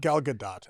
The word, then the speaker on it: Gal Gadot: Get the Gal Gadot, is that her name? Gal Gadot. Gal Gadot. Gal Gadot, actually. Gal Gadot. Yeah, people pronounce it that way.